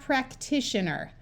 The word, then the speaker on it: practitioner: use their short sound so we have practitioner remember that t i is a Latin spelling for sh so this is the suffix shun this eye at the